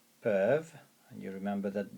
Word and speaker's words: peuvent: ils with an S, peuvent, and you remember that the ENT there is silent, you do not pronounce it. Ils peuvent it, le, and then see, voir. Ils peuvent le voir.